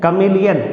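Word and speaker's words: chameleon: ध्यान देना इसमें, कमीलियन याद करने के लिए आप इसको ऐसे पढ़ सकते हो, चैमेली, चैमेली प्लस ऑन। राइट प्रोनाउंसिएशन इसका होगा कमीलियन, जो गिरगिट का एक नाम होता है।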